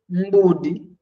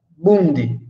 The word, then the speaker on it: mbudi: um exemplo que é mbudi. Mbudi. Esse mbudi, que é ovelha, ela não pode ser pronunciada bundi, porque bundi poderá significar uma outra coisa.